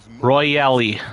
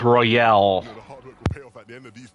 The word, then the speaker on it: Royale: call so who cares if it's silent nobody's pronounced it with the need though royally that's what it that's what you're pronouncing your reality it's Royale dude it was looking so well they were